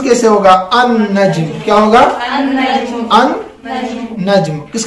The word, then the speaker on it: النجم: لام کا تلفظ ہوا؟ تلفظ نہیں ہو رہا ہے.